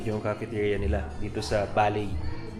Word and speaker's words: Baley: cafeteria nila dito sa By. So tama yung hula ko kanina B talaga yung pronunciation nung ano nung place. So hindi Bailey it's B pala.